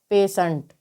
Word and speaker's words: patient: इसी प्रकार से PATIENT। तो आप यहाँ पर देख सकते हैं कि टी के बाद में IE दे रखा है। तो जब टी के बाद में किसी वर्ड में IE दे रखा हो तो यहाँ पर टी का उच्चारण श होगा। टी का उच्चारण क्या होगा? श होगा। तो PATIENT को हम क्या पढ़ेंगे? पेशेंट।